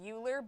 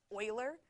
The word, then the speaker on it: Euler: Euler's constant which looks like it should be pronounced uhler but he Swiss and it's pronounced Euler and there's kind of a joke that you're